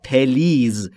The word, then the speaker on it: please: دوستان در مورد تلفظ please دقت بکنید. خیلی از زبان آموزا به اشتباه تلفظ میکنن please یا please. این دو تلفظ اشتباهه. تلفظ درست به این صورته please. بین p و l صدایی وجود نداره.